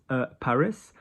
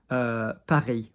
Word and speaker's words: Paris: Paris. Paris. We don't pronounce the S. Yeah, okay. But if we had Parisien, P-R-I-S, P-A-R-I-S, with a vowel, Parisien, for example.